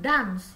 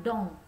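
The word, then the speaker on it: dans: Oke ikuti setelah saya bukan dams ya dibacanya dong Ya dong Keke esnya tidak usah dibaca Nah untuk kalimat contohnya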